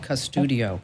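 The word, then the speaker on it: Qustodio: Another one is called Custudio, and it's spelled with a Q, Qsudio, Custudio or Bark.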